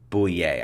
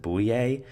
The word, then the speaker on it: Bouye: one of them is AJ boo yay I think that's how you pronounce it boo EA but essentially the Jacksonville